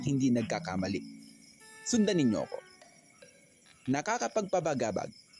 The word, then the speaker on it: Nakakapagpabagabag: Nakakapagpabagabag.